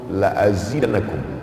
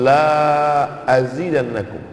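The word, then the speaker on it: لأزيدنكم: Bro bahwa anaknya lainsakartum laadzidanakum lamnya pendek kalau nunggu Syukur aku tambah nikmat tapi kalau dibacanya panjang lainsyakartum la azidannakum tidak kutambah jadi maknanya kontras jauh sekali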